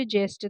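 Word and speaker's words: gist: हिंदी में देखिए ऑप्शन देखिए, गिस्ट, गेस्ट, जिस्ट, जेस्ट।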